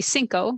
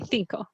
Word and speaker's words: cinco: So the theta is, for those who listen and don't speak Spanish, it's the C that you pronounce th. Yeah. And, so in Mexico it would be cinco, 5, and in Spain it'd be cinco.